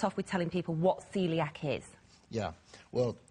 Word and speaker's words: coeliac: with telling people what Celiac is yeah well it's spelled c o e l i a c but pronounced Celiac and basically um it's